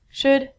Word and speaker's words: should: pronunciation on ink vidcom all of these ELLs are silent so it sounds like should could and the thing that